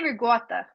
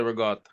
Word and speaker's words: ricotta: I say ricotta. I do. I can't say ricotta. Ricotta sounds like I'm from like Virginia. See, I say ricotta. Yeah. Ricotta. Ooh. Ricotta. That sounds like regatta.